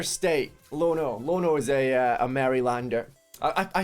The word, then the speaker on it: Maryland: Lono is a Marylander. I say it wrong, apparently. How's it pronounced?